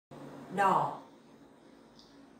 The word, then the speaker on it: đỏ: đỏ, đỏ. Here the tone is dấu hỏi, so you have to pronounce very carefully.